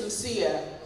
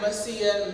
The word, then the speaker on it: Msia: My name is Msia, but I got Masia, Missia, Missy. No one could pronounce it properly.